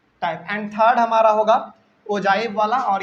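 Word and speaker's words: ogive: And third हमारा होगा ओजाइव वाला और ये आपके सबसे लास्ट में दिया हुआ है। बहुत सारे बच्चे इसको ओगिव पढ़ते हैं, ओगिव नहीं, इसका सही प्रोनाउंसिएशन ओजाइव है, ठीक है।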